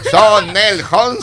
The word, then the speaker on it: Sonenholzner: Sonel Holzner.